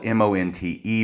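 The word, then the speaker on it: Monte: by Mont s nyman it's spelled m-o-n-t-e but he pronounces it Mont s nyman and Robert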